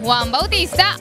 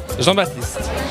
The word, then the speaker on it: Jean Baptiste: Y aquí nos encontramos con Juan Bautista, o mejor pronunciado como Jean Baptiste.